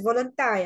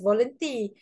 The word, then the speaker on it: Volenti: But sometimes a student like to pronounce as voluntary. I mean, it's okay so long you have the spelling correct lah. Okay, usually for myself, I pronounced as Volenti, but I think both are okay, Volenti or